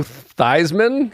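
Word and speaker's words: Theismann: nope all right Joe thyman good okay um whose real name was thian and they changed his name to rhyme with Heisman which it's close enough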